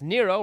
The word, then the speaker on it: Nero: This connection is strengthened, I feel, by the fact that Nero rhymes with zero and hero.